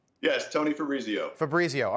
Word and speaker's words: Fabrizio: Fabrizio. All right. Every time I hear that, I think Fabriz. And I think I'm saying it wrong.